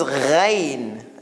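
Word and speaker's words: غين: So ayn, and then there's this ghain. And it's easy, like it's like G and H kind of sound.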